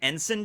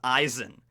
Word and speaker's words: Eisen: been calling it the ensign dial that's just how i've been calling it but i think in the because it's based on a german word and i think it's originally pronounced eisen so it's the eisendile